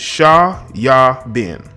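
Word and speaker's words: Shayaa Bin: unlawfully presented UK National sha yah bin Abraham Joseph AKA 21 Savage I want you to understand his name is three different syllables it's sha yah bin okay that's how it's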